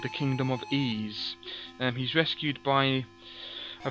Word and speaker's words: Ys: the letter Y there it's actually pronounced EES not wise which is what I